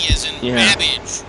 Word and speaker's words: Babbage: babbage, which is something that rhymes with cabbage.